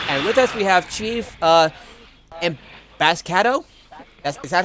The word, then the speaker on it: Chiefemboscado: this is Shadowhawk, and with us we have Chief Emboscado. Is that how? Chiefemboscado.